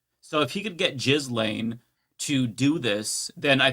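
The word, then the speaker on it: Ghislaine: No, it's literally Jiz Lane. It's It's spelled that way, but I think it's pronounced as Gain. Yeah. No. Okay. Go to one of the the um how to pronounce videos. It is Jiz Lane.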